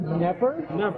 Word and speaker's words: Knepper: And with me right now is Justin Knepper. Hey, I pronounced it right. That's silent K.